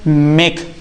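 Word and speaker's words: make: मेक।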